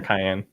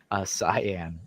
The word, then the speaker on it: cyan: You say it's cyan or cayenne? Cyan. Okay, the correct way. Do people say it like the pepper?